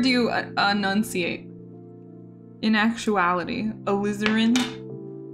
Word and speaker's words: alizarin: you enunciate in actuality alizarin is it a liz urine or alizarin like slytherin you enunciate a lizard like that am i saying it right er in okay alizarin that sounds terrible my